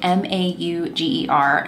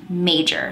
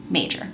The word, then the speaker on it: Mauger: okay mauger mauger it's malger right no it's apparently pronounced major so nobody comes after me i'm pronouncing it major olga major olga major